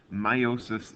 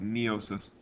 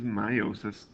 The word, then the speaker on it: meiosis: pronunciation of this word a lot of people want to pronounce that e because they see it at the beginning of the word they want to call it neosis and the proper pronunciation